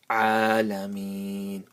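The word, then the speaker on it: العالمين: Rabbil alameen. Pronounce the ayn properly.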